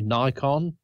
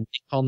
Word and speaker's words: Nikon: talking to people I I might say sometimes if I'm talking to you Nikon instead of Nick on that we would say